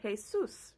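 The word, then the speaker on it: Jesús: Spanish now in Spanish they would say Jesus right that's because even though they're spelled the same the J is not pronounced the same way so how did the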